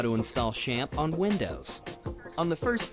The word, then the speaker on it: XAMPP: to develop PHP websites and the cor correct pronunciation for it is sham and we have a download link below and it takes us to Apache friends and they have a video here shamp is the most popular PHP development environment for